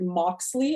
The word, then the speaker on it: Moxley: Super excited to be here and have Moxley. Is that how I pronounce it properly?